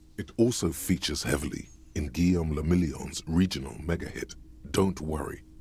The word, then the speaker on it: Guillaume le Million: Guillaume le Million. Guillaume le Million. That's fun to say. If it doesn't rhyme, you're not pronouncing it right.